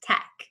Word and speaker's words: TEC: the Energy Coalition or Tec pronounced Tech we are a nonprofit